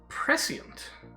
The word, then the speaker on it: prescient: apparently it's not it's prescient like this the sc is still a sir instead of a sure and you actually pronounce the diphthong there's prescient yeah right let